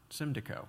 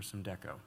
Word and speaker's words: Symdeko: And the next question is about Symdeko or Symdeko. I never learned which it was. Which is it? I should pronounce it Symdeko.